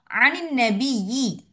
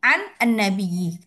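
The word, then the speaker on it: عن النبي: Tapi kita bacanya anin nabiyyi. Ya, biar ringan di lidah kita. Daripada an nabiyyi. Boleh. Kita baca kayak gitu boleh. Tapi untuk meringankan lisan kita, Nun sukunnya ini dikasrohkan. Anin nabiyyi bacanya. Meskipun penulisannya nunnya itu fathah. Nunnya itu maaf sukun. An nabiyyi. Tetapi kita bilangnya anin nabiyyi.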